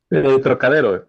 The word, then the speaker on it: Trocadero: Trocadero is, am I pronouncing the title right, Roberto? Trocadero, yes, it's a viewpoint from.